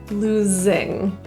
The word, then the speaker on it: losing: The S in losing is actually pronounced as a Z, losing.